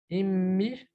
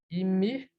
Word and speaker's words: Immi: plus ou moins forte, c'est-à-dire qu'on double la lettre qu'on prononce. On va donner des exemples comme Ibba, Ibba, ma tante paternelle, Ifous, Ifous, le sud, Immi, Immi, ma mère, Afollus, Afollus, le coq, le poulet.